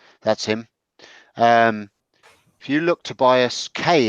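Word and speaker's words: Tobias Kaye: If you look Tobias K, is it? Yeah, it's spelled Kaye. Yeah, Tobias K.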